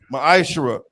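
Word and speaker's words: מעשר: tenth in the Hebrew it's pronounced maishra that's ten percent of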